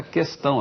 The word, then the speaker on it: questão: dê como resposta correta questão, a grafia questão sem trema e a pronúncia questão.